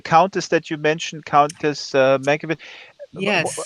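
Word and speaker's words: Markievicz: And the countess that you mentioned, Countess Mankiewicz, Yes, how do you pronounce her name? And she is Countess Markovitz.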